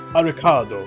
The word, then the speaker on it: Arikado: his name is Arikado, which, like, said phonetically in Japanese is like Arikado. It's like Alucard. It's very much like phonetically a pun on the name Alucard.